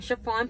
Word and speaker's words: Sha-Phawn: If you're new here, I'm Sha-Phawn, pronounced like the material.